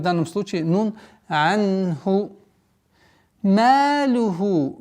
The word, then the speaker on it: مَالُهُ: Малюху. Ма. Мягкий звук, удлинение в размере двух огласов. Малюху.